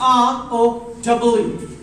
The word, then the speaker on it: row: Look, when it is in a meaning of a line, Q-U-E-U-E, Q, or a line, it is simply row.